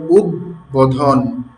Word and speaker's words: উদ্বোধন: উদ এবং উদ উপসর্গযোগে গঠিত শব্দের এই যে খণ্ডত আছে, খণ্ডত যেটা দ এর উচ্চারণে আসে, এর সঙ্গে বফলা যুক্ত হলে উচ্চারণ স্বাভাবিক থাকবে।